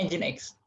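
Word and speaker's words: Nginx: Ning tulisannya. Tapi dibacanya Engine X.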